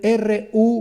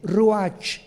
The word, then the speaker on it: ruach: Y la palabra para espíritu en el hebreo se escribe R-U-A-C-H, ruach, y se pronuncia ruach.